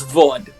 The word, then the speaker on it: Vod: And before anything else, my name is Vod. Vod? That's her name? Vod? Vod. Nice to meet you. VOD? It's a pleasure. It's spelled like this. Like Maud.